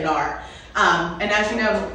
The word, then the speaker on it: NAR: membership with wbr and N AR and I just want to remind everyone that it is pronounced in AR and not Nar anymore that is an old school way of saying and I believe it's